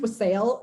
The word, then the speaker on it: wassail: That is spelled Wassail, which to me should be pronounced wassail. It like annoys me that it's not, but I know it's wassail because there is that song, Here We Come a Wassailing.